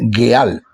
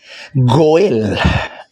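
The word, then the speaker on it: גואל: Y entonces esa misma expresión eh escrita con tres letras, Gimel, Alep y Lamet, ya no se dice Gal, no, sino que se se fonéticamente se lee Goel.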